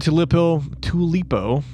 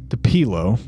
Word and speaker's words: Tupelo: Our first stop, we arrive in the town of Tulipo. Oh, my God. Tulipo. Jesus Christ. Tupelo. Jesus, man. Tupelo, Mississippi. You're already mispronouncing names.